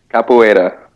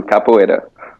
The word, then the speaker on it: capoeira: question for you bud how do you pronounce that thing you do kappubara what how do we say this what is it now capoeira oh that's beautiful you sounded beautiful when you said that say it again thank you capoeira when i look at the word it makes perfect sense that that's how it's pronounced but my eyes are